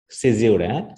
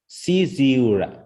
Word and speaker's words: caesura: প্রকাশিত, সেখানে আমরা পাচ্ছি সিজিউরা, তাই তো এরকম উচ্চারণটি, সিজিউরা অথবা সিজুরা অথবা জিউরা অথবা জুয়ারা, যে কোনো উচ্চারণটা আমরা করতে পারি। এটা ব্রিটিশ এবং আমেরিকার মধ্যে পার্থক্য।